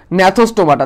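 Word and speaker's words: Gnathostomata: অধিশ্রেণীর নাম দিয়েছিল হচ্ছে সাইক্লোস্টোমাটা এবং ন্যাথোস্টোমাটা। তাহলে সাইক্লোস্টোমেটা। আরেকটা তোমরা অনেকে বলো জি ন্যাথোস্টোমাটা। জি না, এটা জিটা সাইলেন্ট থাকবে।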